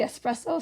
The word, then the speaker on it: espresso: Sabrina Carpenter, the espresso song? Yes. Espresso. Espresso. That's the first on the list here of most mispronounced words. It's espresso, not espresso.